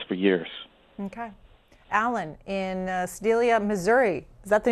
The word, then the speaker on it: Sedalia: Alan in Sedalia, Missouri. Is that the name of your town? Did I pronounce it correctly?